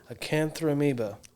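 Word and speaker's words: Acanthamoeba: parasite name okay acanthromeba a cantha amiibo i think that's actually how it's pronounced a-c-a-n-t-h-a-m-o-e-b-a anyway don't wash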